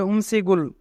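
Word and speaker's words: 음식을: যদি বাচ্চিমের পরে ইয়ং থাকে তবে ইয়ং এর স্থানে বাচ্চিমটি যায়, তাই এখানে গিয়ক বাচ্চিমটি ইয়ং এর স্থানে যাবে এবং উচ্চারণ হবে উমসিগুল।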